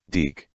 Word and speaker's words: DiC: this foggy evening it's pronounced deke and i'm doing very